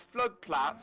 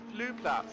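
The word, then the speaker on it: Flugplatz: you go to and it looks like it's flood plat but no I promise you it is flu plats how you pronounce that I was made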